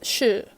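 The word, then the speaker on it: 是: The word is shi. It's a bit difficult to pronounce at first. I found it easier to keep my teeth pressed together for it.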